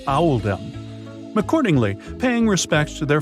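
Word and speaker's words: Oldham: This choice was made to reflect the pronunciation of in the local accent, which is Owaldum.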